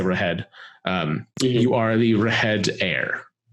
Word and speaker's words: Reghed: But it's Reghed. So I believe it's like Rahed or Reged, but I will say Rahed.